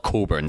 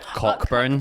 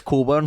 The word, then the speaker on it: Cockburn Street: when you were there it's called Coburn Street but it's spelled cockburns yeah yeah there's always so many Americans like hey do you know how to get to cockburn street it's coolborn Street your mad unit yeah